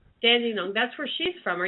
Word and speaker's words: Dandong: how d n d n o n gs pronounce dandong dandong that's where she's from are you anywhere near